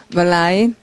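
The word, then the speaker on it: malign: 발음은 멀라인.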